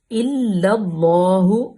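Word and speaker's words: إلا الله: ہے اور روانگی بھی۔ الا اللہ، یہ بھی لام باریک، اللہ کی پہلی لام بھی باریک، لام اس میں جلالہ کو پر پڑھیں گے۔ الا اللہ، پر اس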